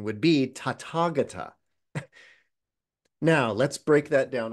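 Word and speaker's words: Tathāgata: of those and smashed them together, the correct pronunciation would be tatagata.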